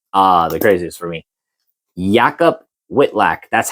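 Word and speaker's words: Jakub Wikłacz: Yakob Whitlack, that's how they pronounce it.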